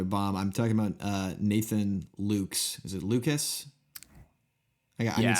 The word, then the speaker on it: Lukes: I need some help with I think it's pronounced Lucas. Yeah, I think there's 2 syllables in there. They got an invisible short vowel hidden on one of those consonants for me.